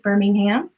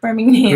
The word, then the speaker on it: Birmingham: Sally Jeffries, hey Sally, is UK, Birmingham. Yeah, I said it right, Birmingham.